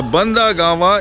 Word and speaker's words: Bandagama: he stayed with his the actual place name of the place is Banda Gama that's badgama the real name is pronounced as bandagama and he stayed there